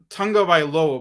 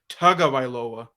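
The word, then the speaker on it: Tagovailoa: say his last name I I say I pronounce it Tunga by low but a pronoun apparently it's pronounced tug of iloa um Okay so the I would say um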